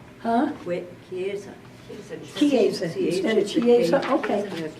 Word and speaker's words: Chiesa: This is the Chiesa Nuevo, I think is how they pronounce it. Chiesa. Huh? Chiesa. Chiesa instead of Chiesa, okay.